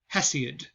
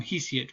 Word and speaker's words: Hesiod: and it is by a guy named uh hesiod um sometimes i call him he see it but hesi is the better pronunciation for that um so let's zoom in